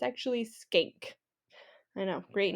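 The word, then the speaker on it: Schenck: funny um it looks like you want to pronounce it as shank but it's actually skank I know great name um skank versus the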